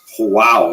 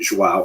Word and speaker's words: João: I used to think it was Joao, like when the baby was born, the mother would say, Joao, it's a boy, but it's actually Joao.